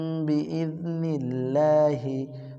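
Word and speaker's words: بإذن الله: আল্লাহ শব্দের বারিক। কারণ আল্লাহ শব্দের লামের ডানে যদি জেদ থাকে কি হয়? বারিক হয়। বি ইজনিল নীল্লা হা খারাজের হি হরকতের উচ্চারণ। তাড়াতাড়ি হি। কুম বি ইজনিল্লাহি, কুম বি ইজনিল্লাহি, কুম বি ইজনিল্লাহি।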